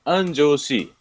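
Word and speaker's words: Anjō-shi: Eu moro numa cidade chamada Anjoshi. Se escreve anjo, como anjo mesmo, com asinha, né? Anjo dos céus, né? Mas é Anjoshi, ok?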